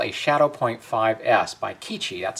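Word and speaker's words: QIDI: Now, the printer that you see in that segment is called a Shadow Point 5S by Kichi. That's spelled Q-I-D-I, and they're known for their filament printers.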